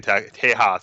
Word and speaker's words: Tejas: Because that pronunciation was of Mexican Tejas.